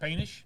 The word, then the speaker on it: Poetenisch: This morning our guest is Scott Poetenisch.